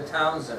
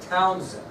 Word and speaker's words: Townshend: What they did pay attention to was our next subtopic, the Townshend Acts. The Townshend Acts. The Townshend Acts. It's spelled a little differently than what you might think.